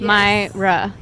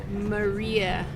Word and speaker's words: Maira: but my mom is unique, so she spelled it M-A-I-R-A. That would The be My. the Spanish pronunciation, spelling, Yes. Myra. Or I get Maria all Oh. the time. And I knew that was not right. No, because the I is before the R.